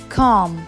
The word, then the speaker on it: comb: The next word where B letter is silent, it's comb. Comb, like for comb or hair.